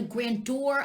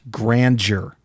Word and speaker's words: grandeur: shut up then the the grand door of our democracy it's pronounced grandeur that's what they care